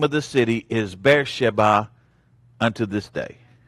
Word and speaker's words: Beersheba: Therefore the name of the city is Beersheba unto this day. I thought that was Beersheba. Beersheba is how we pronounced it. Oh, okay. Actual Hebrew pronunciation is Beersheba.